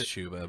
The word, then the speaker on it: Chuba: yeah is that a bubbleguma it's chuba but I always say chubby because that's the way it's spelled so I'm sorry man